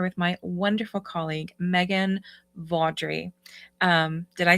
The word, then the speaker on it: Veaudry: I will I will use the correct pronunciation. Uh, hello. My name is Megan Vaudry.